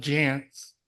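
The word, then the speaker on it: Jantsch: Sarah and her Father John Jance which rhymes with pants so I had to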